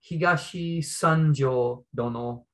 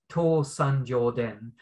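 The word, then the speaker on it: 東三条殿: In Japanese, it's written Higashi Sanjo Dono, but you can also read it the Chinese way, To Sanjo Den.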